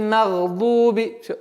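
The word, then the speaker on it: مغضوب: Гайриль магдуби. Дуби. Язык там. Итак, магдад. Дуби. Вот здесь у нас произношение в размере двух огласовок. Удлиняем дамму. Магдуби. Магдуби.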